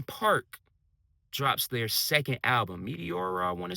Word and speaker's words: Meteora: 2005, Linkin Park drops their second album, Meteora, I want to say it's pronounced.